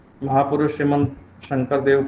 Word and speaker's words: शंकर: महापुरुष श्रीमंत शंकर देव, देखिए अब स का उच्चारण करने में मुझे दिक्कत हुई, तालव्य श बोलने में, तो शंकर का दंत्य स आ गया, शंकर। देखिए अभी सही आया, इसलिए उच्चारण का आपको हमेशा ध्यान रखना है।